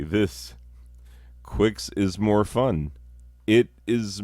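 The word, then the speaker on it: Qix: that compares to this is quicks or some might call it kicks because it's spelled with a cube but there's no u after it q i x i always said quicks when i was a kid other people may say kicks i don't know if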